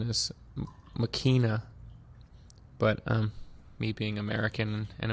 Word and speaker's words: Machina: The correct pronunciation is Machina, but me being American and Americanizing everything in my path, I say Machina.